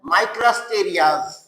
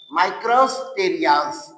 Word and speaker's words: Micrasterias: ठीक है, नाउ तो इसका जो ये डिस्माइल्स है, इसका एग्जाम्पल है माइक्रोस्टेरियाज। माइक्रोस्टेरियाज, अब देख लीजिए स्पेलिंग देख लो बच्चों, MICRASTERIAS, मेस्टेरियाज, मेस्टेरियाज।